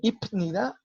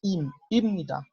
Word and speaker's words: 입니다: Pero esa P no se va a mencionar como P, se va a mencionar como M. Y eso es algo que yo había comentado desde la clase anterior, ¿no? El ipnida no se dice ip, se dice imnida.